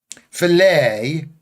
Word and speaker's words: filet: Filet. Filet. It's filet. That the t is silent.